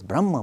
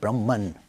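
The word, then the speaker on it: ब्रह्म: define that as brahma the sanskrit pronounces brahma but in english we make it brahman and atma becomes atman so carry you know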